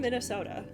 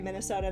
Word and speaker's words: Minnesota: For those of you who are unaware, I am from Minnesota.